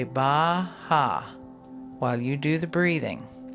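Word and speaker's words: Beatha: We call it Baha. Now that is an Irish Gaelic word that means life. And it's spelled B-E-A-T-H-A, but it's pronounced Baha.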